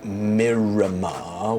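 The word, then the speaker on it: Merramar: Miramar, which is spelled M-E-R-R-A-M-A-R, Miramar, Clade, K-L-A-D-E, Miramar Clade.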